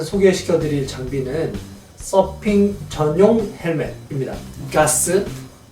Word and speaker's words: Gath: 가스, 뭐라고 여러가지 발음으로 불리는, 저는 가스와 게스의 중간 정도의 발음을 하고 있습니다.